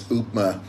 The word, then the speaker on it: upma: I had the upma sorry I mispronounced it and said upper early it's upma on my nutrisense 24-hour blood